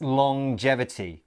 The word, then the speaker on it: longevity: of of this word it's a little bit strange it's longevity so we have the at the end of long as normal but then there's this J sound as well longevity let's look